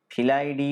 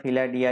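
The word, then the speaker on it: Felidae: তাহলে টাইগ্রিস প্রজাতির প্যান্থেরা গণভুক্ত ফিলাইডি বা ফিলাডিয়া যাই বলো না কেন, বা ফেলিডিয়ে যাই বলো না কেন উচ্চারণ, হ্যাঁ, এই পরিবারভুক্ত কার্নিভোরা বর্গের ম্যামেলিয়া শ্রেণীর করডাটা পর্বভুক্ত অ্যানিমিলিয়া জগৎভুক্ত বা রাজ্যভুক্ত প্রাণী হচ্ছে বাঘ।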